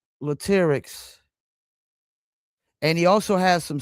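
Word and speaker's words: Latyrx: So, did I pronounce that name, the group name right with lyrics? Is that Latics? That you did pronounce it right, which is not everybody don't do that, but yeah, you did.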